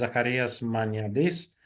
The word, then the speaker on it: Zacharias Maniadis: Uh this is uh yeah the pronunciation is zakaras manardis.